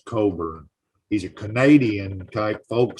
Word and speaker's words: Cockburn: But the other guy that was on was a folk singer, Bruce Coburn or Cockburn. I'm not sure exactly how you pronounce his last name. Cockburn. I think it's Coburn.